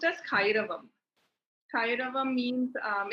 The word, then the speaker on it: Kairavam: you know my brand um so yeah it's pronounced as kairavam kairava means um it's a Sanskrit word and